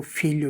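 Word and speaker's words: figlio: जैसे FIGLI ओ फीलियो, फीलियो यानी बेटा है।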